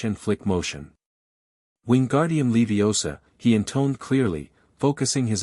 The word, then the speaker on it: Leviosa: "You're saying it wrong," she insisted. "It's Levi OSA, not Leviosa."